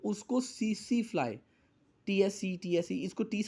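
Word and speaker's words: tsetse: किसी जानवर के खून में है तो उसको सीसी फ्लाई इसको 30 साइलेंट है जो की अगर एक भैंस को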